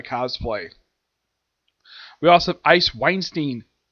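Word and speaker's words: Wallenstein: We also have Ice Weinstein. That's how you pronounce her last name.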